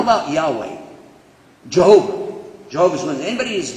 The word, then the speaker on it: Yahweh: So, Jehovah is definitely an English pronunciation of the word Yahweh. It's Yahweh without any vowels. Non-Jews added vowels and said, well, it's probably Yehovah. But it's Yahweh. Wah.